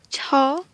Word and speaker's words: ឆ: Ensuite nous avons cha. Cha. Donc là, cha, c'était un tout petit peu aspiré, mais là, c'est encore plus aspiré, d'où le double H.